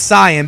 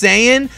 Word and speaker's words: Saiyan: like you know dude the right way to say it is Sayan because it's yasai that's where the pun is from if you want to say it's sayian that's fine I'm not